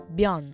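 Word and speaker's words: bean: Take the word bian, woman. Now if we add the definite article in front, it's now pronounced an vian.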